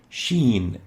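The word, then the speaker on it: ش: lingual palatal and it's giving the name sheen as in sheep but exchanging the p with an n sheen the name sheen and the pronunciation is ish the next letter is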